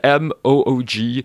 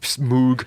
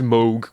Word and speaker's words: Moog: but it's spelled M O O G, which everyone initially thinks is Moog, but no, it's pronounced Moog with like a long O, I guess.